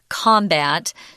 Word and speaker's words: combat: form of the word the noun form is pronounced combat which means a fight